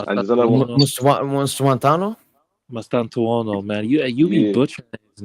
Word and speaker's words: Mastantuono: Mustuantuano? Mustuantano? No. Mastantuono.